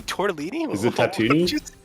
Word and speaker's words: Tatooine: a meme, but like, they're the people on Tatooine, right? Are those the Jawas? Tatooine? Whatever, however you say it. Wait, what did you say? Did you say tortellini? Is it Tatooine?